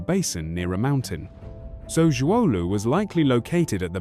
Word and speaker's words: Zhuolu: The word "er" here is pronounced "air" and refers to a low-lying area or basin near a mountain. So Zhuolu was likely located at the base of some hills or mountains.